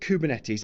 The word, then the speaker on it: Kubernetes: So the word Kubernetes, and that's how we generally pronounce it.